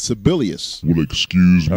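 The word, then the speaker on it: Sebelius: You know, during the last set, you said Kathleen Sabalas. I don't think that's the correct pronunciation of her name there, Cool Breeze. Well, what is it? All right, I think it's Sibelius.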